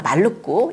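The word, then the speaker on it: Maluku: 그 다음이 말루쿠인데요. 몰루카라고 하는 그 섬의 인도네시아 발음입니다. 말루쿠 향신료 제도죠.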